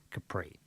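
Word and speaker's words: Khepri: you know a Ford Capri but now it's spelled with a k k h e p r i Capri so then Capri also translated as capera or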